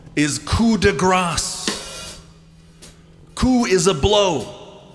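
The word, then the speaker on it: coup de grâce: In this case, you pronounce the consonant coup de grace. When you leave out the consonant, what you say is coup de grace. The problem with that is that gras is a different word in French.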